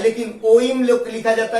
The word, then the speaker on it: ओम: लिखा हुआ है, लेकिन ओम लिखा जाता है। जैसे आप लोग जब भी ओम का उच्चारण करते हैं तो वो कैसे करते हैं, जैसे ओम खींचते हैं, उसको खींच के बोला जाता है।